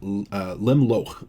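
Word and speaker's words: לִמְלֹךְ: Limloch would be the pronunciation here. Limloch would be the infinitive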